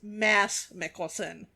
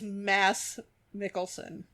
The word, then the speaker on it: Mads Mikkelsen: It is Mads Mikkelsen. Okay. M-A, I don't know what happened to that D. Is that mysterious, silent D? It's Mads Mikkelsen.